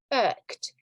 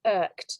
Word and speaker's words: irked: So when you are angry, okay, you can be irked. Now, the pronunciation is quite tricky because it's the same as in the word bird or work.